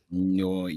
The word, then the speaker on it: Nyoibo: It's spelled Nyoibo. Nyoibo.